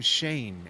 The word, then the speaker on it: Shane: It is Adam, the Carolina driver, and it's Adam Shane, actually, is how Adam Shane, okay. Right, is how that was supposed to be pronounced.